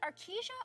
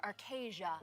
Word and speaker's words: Arkesia: in arcasia for you is it arkesia or arcasia right that's been a debate arcasia is uh is how i've been i've been told that we are pronouncing it today but i say tomato